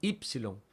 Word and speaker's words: upsilon: en Taco después tenemos upsilon y ojo aquí también porque van a ver algunos vídeos en YouTube que dicen ipsilon y eso corresponde a otra escuela y a otro tipo